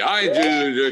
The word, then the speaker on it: Ido: Well, it's Ido. It's spelled I-D-O. But in the U.S., nobody seems to nail it.